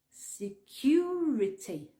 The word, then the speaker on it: security: Le U, le son U en tout cas, n'existe pas en anglais. La lettre oui, mais pas le son. Donc tu dois le prononcer U. Security.